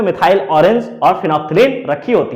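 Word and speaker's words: phenolphthalein: Orange और दूसरा है फिनोप्थलीन, इसको बोलते हैं फिनोपथलीन। चूंकि बोलता है फिनोप्थिलीन, लेकिन इसको बोलेंगे फिनोप्थलीन, पी यहां पे साइलेंट होता है, फिनोप्थिलीन क्या बोलते हैं इसे, फिनोप्थिलीन।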